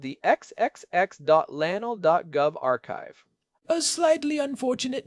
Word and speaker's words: arXiv: It eventually rebranded to RX using the Greek letter Kai for the X which is why we pronounce it archive.